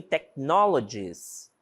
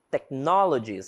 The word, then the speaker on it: technologies: Por exemplo, em technologies. Technologies, essa palavrinha, esse H não tem som, certo?